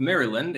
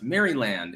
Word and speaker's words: Maryland: Coltrane, on behalf of Maryland, it's pronounced Maryland.